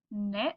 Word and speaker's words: knit: We have the word knit with our silent K, and then we have knocks again, and night.